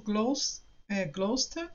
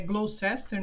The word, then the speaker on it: Gloucester: E ele e o Gloucester, né? Que eles falam que a pronúncia é Gloucester, né? Mas Gloucester. eles pronunciam Gloucester, ao menos até no Inglês.